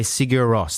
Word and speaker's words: Sigur Rós: This is Inni mer Singer Vital Singer by Sigur Rós. That's exact. I pronounced it exactly right, by the way.